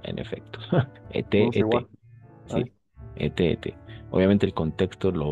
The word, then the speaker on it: été: Ete, como el participio pasado del verbo être. Exactamente. Se escribe igual, se pronuncia igual.